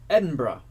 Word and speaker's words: Edinburgh: All right, so does Andrew know Edinburgh? No fucking way. It's in Scotland. Yeah. Edinburgh. It's not spelled like Edinburgh.